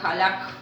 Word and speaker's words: halak: Quitará significa halak, acento en la A.